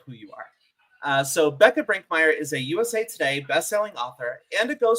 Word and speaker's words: Bekah Brinkmeier: And today I have the pleasure of chatting with Becca Brinkmire, which I really should have asked the pronunciation beforehand.